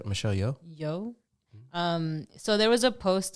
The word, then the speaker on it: Yeoh: Yeoh. So there was a post that came out. I saw this on Twitter, and it was of Michelle Yeoh, and it said that Michelle Yeoh is the second woman of color to ever